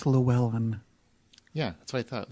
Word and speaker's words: Llewyn: No, it's Llewyn. Yeah, that's what I thought. Llewyn. Right. It doesn't pronounce that way in the trailer.